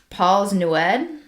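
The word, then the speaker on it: Plas Newydd: One of his wives who were living in Paul's Newed I looked up how to pronounce that it is Paul's newed.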